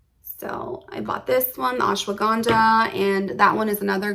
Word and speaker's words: ashwagandha: one pill i also took what is called ashwagandha i believe that's how you pronounce it ashwagandha yes ashwagandha root powder 800 milligrams so i bought this